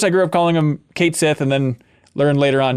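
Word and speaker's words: Cait Sith: from Final Fantasy 7 Kate Sith is pronounced Kate Sith and not the Scottish gelic pronunciation Ki I'm a bit disappointed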